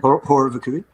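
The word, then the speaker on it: Horror Vacui: Horror Vakui, is that how you pronounce it? Horror Vakui.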